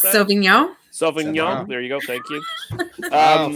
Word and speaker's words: Sauvignon: How do you pronounce that? Sauvignon.